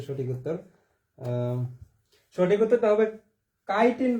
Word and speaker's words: chitin: সঠিক উত্তরটা হবে কাইটিন, বানানটা CH দিয়ে হবে, হ্যাঁ, CHITIN, ঠিক আছে। এটা হচ্ছে কাইটিন, চাইটিন না কিন্তু, CHI চাই না, CHI তে কি কাইটিন, ঠিক আছে।